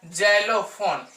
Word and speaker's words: xylophone: उसके बाद देखते हैं आता है जाइलोफोन, XYLOPHONE, जाइलोफोन, जो का उच्चारण आ रहा है, जाइलोफोन। फिर देखते हैं कसा संयुक्त, टाक्स आ रहा इनका साउंड।